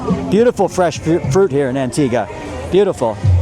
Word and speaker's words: Antigua: Antigua. Not Antigua. Sorry. Antigga. Don't pronounce the U.